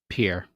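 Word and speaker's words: Pierre: Pier. How do you pronounce it? Oh, it's pier. It's pier. Pier. It's Pier. It's Pier. Yes, it's Pier because I almost got a job there.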